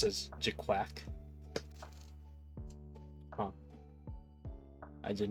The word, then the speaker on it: GQuuuuuuX: It's pronounced as GQuuuuuuX.